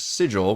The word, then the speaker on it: Sigil: the way I hate hate hate that it's pronounced sigle look that up because it is pronounced that way even though I prefer the normal way you pronounce the word which is sigil which I think is a cool word but